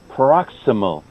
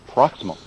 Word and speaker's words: paroxysmal: On the other words that we learned earlier, I said paroxysmal. You can say paroxysmal, right? I shorten one syllable, proximal. It's right. Almost the S and the M kind of get mushed together.